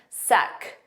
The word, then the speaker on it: sec: Now make sure you pronounce that it's AK sound at the end. Suck.